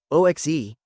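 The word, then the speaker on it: oxe: O XE equals O plus SH with a soft sh.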